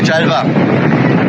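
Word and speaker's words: ጃልባ: You say Jalva.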